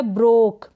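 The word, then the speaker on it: broke: फिर ये है ब्रोक, क्या है, ब्रोक, बी आर को ब्र प्रोनाउंस करेंगे।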